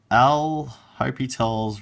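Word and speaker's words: L'Hôpital: But it's called L'Hopital's rule. You can pronounce it however you want. It's like Al Hospitals. People have different pronunciations, but basically the idea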